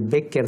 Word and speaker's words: Bécquer: apellido en castellano, y en lugar del Bécquer C.K., que es como se escribe en alemán, lo convierten en Q y ya sale el apellido de Bécquer, que es el que nosotros conocemos en Gustavo Adolfo.